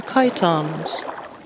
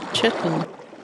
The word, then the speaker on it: chiton: These are chitons. Some North Americans pronounce it chiton, but I will honor the Greek origin of the word and stick with chiton.